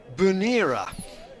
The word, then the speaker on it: Bernera: And Pete says, watching from the stream from northwest Sutherland, where it's very wet, Bernera on Lewis is pronounced Bunera.